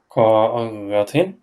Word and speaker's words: قارة: قارة. Yeah, so you have to extend the alif like you say, like قارة.